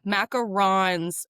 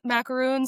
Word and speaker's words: macaron: Everybody says macaroon. So, like I just say macaron cuz I watched so much Great British Bake Off that like I feel